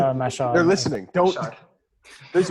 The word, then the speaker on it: Mashhad: Mashhad or Masad? How do you say it? What is it? Mashhad.